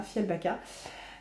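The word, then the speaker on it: Fjällbacka: Ce que je peux vous dire, c'est qu'on retrouve la petite ville de Fialbaka, je crois que ça se prononce comme ça, Fialbaka.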